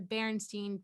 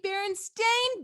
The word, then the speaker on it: Berenstain: it is in fact the berenstain bears so it is spelled b-e-r-e-n-s-t-a-i-n and apparently it has always been that way the writers of the